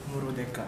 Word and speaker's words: Murudeka: Tapi ini kan propaganda Jepang sampai dulu bikin bikin film judulnya Murudeka. Murudeka. Murudeka itu merdeka tapi dari bahasa Jepang.